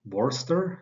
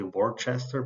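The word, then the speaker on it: Worcester: city of um War Worster in Massachusetts I think this is how you pronounce it right um so I I used to say Worchester but some somebody told me that it's wrong so um okay so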